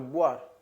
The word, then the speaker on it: boire: Exemplo, boire.